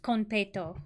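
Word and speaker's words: konpeito: wait she said it okay so it's just conto okay that's not how I REM I feel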